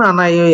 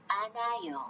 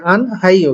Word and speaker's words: 안아요: 1. 안아요. আনাইও, এখানে হওয়ার কথা ছিল কি আন হাইও, কিন্তু হলো আনাইও।